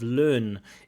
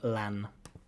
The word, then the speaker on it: learn: I have to try to be like a detective and work out what she's trying to say because the pronunciation of learn isn't correct. She's saying lan.